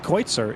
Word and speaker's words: Kreutzer: Cruiser is actually pronounced Kreutzer, if I'm not mistaken. Once again, please correct me if I'm wrong. But the BMW driver Kreutzer, I think, is the correct pronunciation.